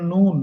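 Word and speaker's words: نون: সুন্দর হইছে এটা দেখেন এটাকে বলে নুন নুন বাংলাদেশে নুন লেখে না দন্ত এরকম উচ্চারণ নুন ন একটু একটু চিকন করেন মুখটা একটু গোল করেন নুন নন হ্যা যেহেতু পেশ নন নুনের উপরে কি দিতেছি পেশ আর পেশটা উচ্চারণ করতে মূলত গোল করে নুন নন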